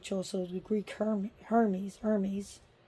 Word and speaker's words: Hermes: the Greek her Hermes Hermes Hermes I should say the H is not pronounced in Greek so yeah but she